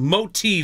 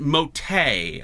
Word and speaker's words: Moti: motiv Vape moti pod I've been kind of pronouncing it motay I like the A on the end but there's no a it's mot now this was sent